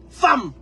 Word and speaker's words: femme: On vous dit femme, c'est écrit hein, E. Mais on lit ça A, femme.